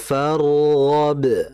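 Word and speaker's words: فَارْغَبْ: Nah, perhatikan pada fargab di situ ada ro mati. Nah, huruf ro ini dia itu kan memiliki sifat namanya tawasut. Tawasut maksudnya ditahan dulu alirannya sedang. Aliran sedang dengan getaran dua getaran saja.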